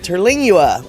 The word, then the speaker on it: Terlingua: By the way, it's pronounced Terlingua. Terlingua.